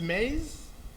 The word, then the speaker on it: Mays: Others who pronounce his surname as Maize, not maize we eat, M-A-Y-S.